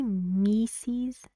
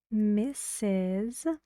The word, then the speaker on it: Mrs: Mrs Lee Mrs Lee can I say mises no so be careful we say Mrs what we write m r s Mrs where else do